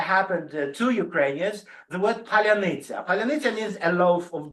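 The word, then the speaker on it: паляниця: to something that happened to Ukrainians, the word palyanytsia.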